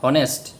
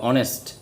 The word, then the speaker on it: honest: তাই লেটার পড়ার সময় উচ্চারণ ভালোভাবে বুঝতে হবে, নতুবা আর্টিকেল পড়তে গিয়ে প্রশ্ন থাকবে। হনেস্ট, এটা কিন্তু হনেস্ট এটা অনেস্ট।